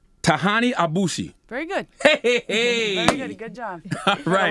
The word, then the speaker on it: Tahanie Aboushi: district attorney i think i'm in your name tahani abushi very good good job a lot of variations